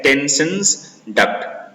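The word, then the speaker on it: Stensen's duct: टेंसन्स डक्ट, ठीक है, टेंसन्स डक्ट, S silent, टेंसन्स डक्ट, ठीक है।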